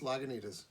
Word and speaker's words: Lagunitas: any kind of authority but i believe it's pronounced lagunitas naganita's brewing companies limited release of maximus colossal